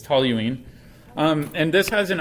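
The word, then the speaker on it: toluene: system so this it's talline yeah it's not Tallon I know if you look at it it looks like it should be pronounced Tallon but it's toine um and this has an oxidation state of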